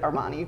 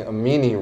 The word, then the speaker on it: Amini: the way side note I was pronouncing a meaning wrong and so I was telling all my friends like yeah I know the person designs and created Armani and they would look